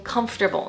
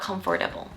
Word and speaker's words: comfortable: There are 3 syllables, making the pronunciation comfortable, not comfortable.